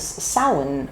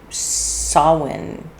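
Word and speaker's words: Samhain: It is the time of it's you know was known in uh Celtic and in Gaelic tradition as sin or sawin different people pronounce it different ways.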